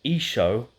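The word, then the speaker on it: ܝܫܘܥ: the son of God Jesus or esho as it is pronounced in the Aramaic of Nazareth God bless you all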